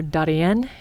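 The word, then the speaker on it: Darién: The Darien Gap, or Darien, if you want to pronounce it correctly.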